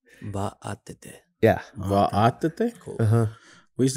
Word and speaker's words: Vaatete: And your last name, how is it pronounced? Vaatete. Vaatete. Yeah. Vaatete? Cool. We used to say Vaatete.